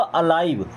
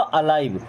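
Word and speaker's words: alive: बट अब ये लिव नहीं होगा। ये होगा अलाइव। क्या होगा? अलाइव। ध्यान से देखिएगा। अलीव नहीं पढ़ना है। अलाइव।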